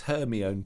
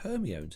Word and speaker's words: Hermione: I'm not sure really if I like this Hermione character. I'm like, Hermione?